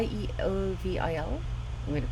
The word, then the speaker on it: Yeovil: by the way at you i may be mispronouncing this at yeovil y y-e-o-v-i-l i'm going to pronounce it yeah i by